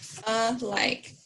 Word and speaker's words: alike: label our vowels okay this a is a schwa because that doesn't have that a sound and then the next one is our i along i mr i put a line through our silent letter our vowel e put a line over to the i okay and let's say